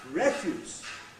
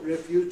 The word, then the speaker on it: refuse: Refuse has refuse. It even not only changes the vowel in the first syllable from it refuse to refuse, it even changes the final s and z alternation you get.